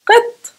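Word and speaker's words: قط: Now let's take the letter Qaf and pronounce it with the vowel I after it. For example, the word qit, qi or qi, same thing. Qit, qit means cat.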